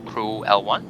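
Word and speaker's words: CRU-L1: itself, is this one, CRUL1, the Crew L1. is how you say it.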